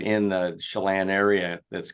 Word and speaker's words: Chelan: you on two things no big deal it's pronounced Chelan we've been kept called Shalon which I like Shalon that kind of has